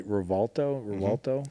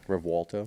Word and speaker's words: Revuelto: So when you look at because you said you drove the Revuelto? Revuelto. Yeah, and when you think pronounce I'm it, I was saying it like, right.